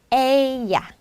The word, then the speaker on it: ella: 그리고 " 그녀 " 에 해당 하는 단어는 "ella", "ella" 입니다 . " 야 " 라고 발음 하는 것 이 맞지만 , " 엘라 " 라고 발음 하는 것 은 다소 어려울 수 있습니다 .